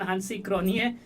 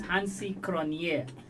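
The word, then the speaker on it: Hansie Cronjé: way they should be I remember a certain hansi cronie first he was pronounced he himself said no it's hansi kronier uh so similarly for example some of the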